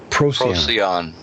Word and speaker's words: Procyon: How do you pronounce that? Procyon? Procyon.